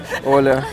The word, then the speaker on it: Оля: is Оля. Оля, thank you. Я тебе... Ола? Люди кажуть Ола. Мене всі називають Ола. Іноземці всі, португальці тільки правильно вимовляють.